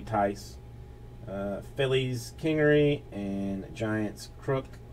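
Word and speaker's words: Thaiss: I mean, it's like T-H-A-I-S-S. I've called it Thais Thais, but people are telling me Tice.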